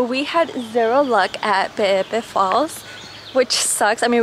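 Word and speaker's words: Peʻepeʻe: And it's not even Pe'epe, it's like they pronounce every E. Super interesting. Okay, we're checking out Pe'epe Falls.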